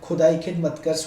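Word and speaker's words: Khudai Khidmatgars: ये जो प्रोनाउंसिएशन होगा खुदाई खिद मतगर्स होगा, और इसके नाम से ये जो रेड शर्ट है फेमस हमारे पेशावर में हुआ था दोस्तों।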